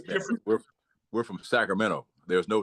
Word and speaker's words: Sacramento: There's no T. Sacramento. But it's spelled with a T, and I think this T is supposed to be enunciated. But in Sacramento, in the end, I think it's T-O in the end of Sacramento. Well, it is. That's how it's spelled, and that's the proper enunciation. But if you you're all here, we leave it out.